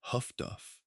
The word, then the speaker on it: HF/DF: The development of high-frequency direction finding, HF/DF, pronounced HUFDUF, was an anti-submarine technology that worked on a different principle from radar and complemented it effectively.